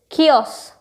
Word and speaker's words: kiosk: How do you pronounce it? It's kiosk.